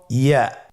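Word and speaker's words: ياء: পরবর্তী হরফটির নাম হল ইয়া পরবর্তী হরফটির নাম ইয়া পরবর্তী হরফটির নাম কি ইয়া ইয়া হরফটি উচ্চারণের ক্ষেত্রে বারিক হবে এবং এক আলিফ টেনে পড়তে হবেইয়া আবার বলুন ইয়া ইয়ার মাখরাজ কোন জায়গা থেকে উচ্চারিত হয়?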